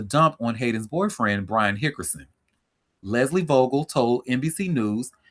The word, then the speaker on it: Hickerson: breaks silence, bashes Brian Hickerson. Hickerson. Brian Hickerson. Let me make sure I say his name right cuz I keep calling him Hinkerson and there's no N in his name.